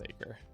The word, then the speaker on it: Acre: I keep going back and forth on how that is pronounced. I think it's Acre.